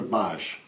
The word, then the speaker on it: Boesch: they would say oh my gosh here's another bosh so bosh runs with gosh guys boss rhymes with gosh can you tell us a little